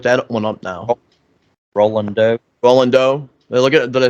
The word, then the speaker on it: Roland: Terry Yours asked one with Ronald Doe. Well, I'm gonna have to look that one up now. Oh, Roland Doe.